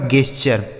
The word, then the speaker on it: gesture: आगे GESTURE, तो GES इसे पढ़ेंगे गेस, और TURE का उच्चारण क्या हो गया मेरे भाई चर, यह लिखा गया आपका गेस्चर, इसे क्या पढ़ा जाएगा गेस्चर, ठीक है।